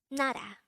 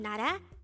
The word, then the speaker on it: 나라: number 235 nada nada this is pronounced as a two-syllable word the first syllable is na the second syllable is pronounce it with me nada nada the korean term nara means country again nara is country now let's